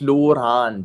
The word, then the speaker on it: Lorand: So in Hungarian it is pronounced Lurand with a long O and a long No, not Laurand.